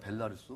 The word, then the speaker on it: 벨라루스: 벨로루스 아니면 벨라루스? 벨라루스. 벨라루스죠. 네, 벨라루스. 예. 벨라루스. 네. 벨라루스. 이게 발음이 좀 어려운데 그 MOU를 맺었는데 그곳의 농장에서 이게 젖소들 분뇨가 나오는데요.